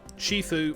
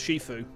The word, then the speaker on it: Shifu: Because I'm pretty sure that that's the pronunciation of it. I'm pretty sure it's pronounced Shifu.